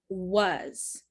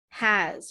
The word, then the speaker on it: was: people because of this w in the beginning was was remember w says was i hear some students pronounce this word like has with the h sound or they just remove